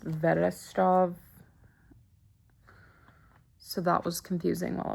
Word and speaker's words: Wrocław: It looks like it's pronounced like Wrocław, but it's pronounced Vedestrov.